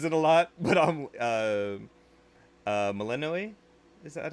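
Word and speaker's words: Melinoë: I keep trying to pronounce her name correctly, and Hecate says it a lot, but I'm Malenoe. Is that how you pronounce it? Yeah, Mel- yeah, Melanoe.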